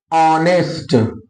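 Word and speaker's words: honest: इसी और ऑनेस्ट, ठीक है, ऑनेस्ट, ऑनरेबल, ऑनरेबल, ठीक है। देखो our, honour, air, ऑनेस्ट, honourable, ये सारे ऐसे शब्द हैं जिनकी शुरुआत में एच क्या है, साइलेंट है।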